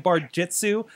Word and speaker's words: barjutsu: I keep screwing up and saying barjitsu. That's how it is. It's barjitsu. It is barjitsu. Yeah, but it's spelled with a U.